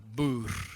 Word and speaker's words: Boer: What is, just in case you don't know what the word Boer means, it means farmer, or boer in Afrikaans. Boer. That's how it's pronounced.